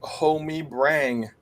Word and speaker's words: homabrang: Well, first word is homabrang. Homabrang. Homabrang. Homabrang is pronounced homie-brang.